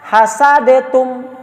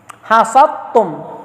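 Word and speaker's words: حسدتم: Jadi jangan dibaca hasadetum. Ya, hasadetum jangan. Tetap hasadtum, ya. Iya, hasadtum, jangan hasadetum.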